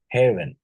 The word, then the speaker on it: heaven: Heave, have, heaven, heave, and heaven, right?